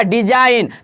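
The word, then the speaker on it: design: हमेशा साइलेंट रहता है एन से पहले दे दीजिए ए गया तो जी हान क्या बोल रहा था सर साइलेंट रहा था जैसे दिखेगा दी ए एस आई जी एन यानी क्या हो गया डिज़ाइन तो सर एन से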